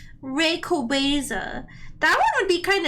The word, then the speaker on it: Rayquaza: The movie taught me that I was saying it wrong the whole time. Rayquaza.